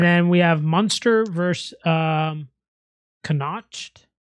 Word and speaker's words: Connacht: Give me Munster then, because if you can't pronounce it, you can't afford it. It's CONNACHT.